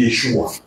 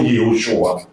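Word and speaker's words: ישוע: dire yosua alors que le nom de Jésus c'est Yeshua et non Yoshua en hébreu donc et là ne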